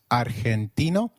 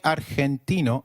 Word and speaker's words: Argentina: Argentina is pronounced as Argentina in Spanish g when followed by E or I is pronounced like a throat eh so try saying Argentina again Argentina excellent you may have